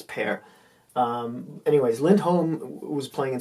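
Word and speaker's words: Pär: Now, before this, I think his name is not pronounced Par, it's Pear.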